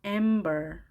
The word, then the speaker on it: amber: 첫 글자 A에 강세가 있습니다. amber.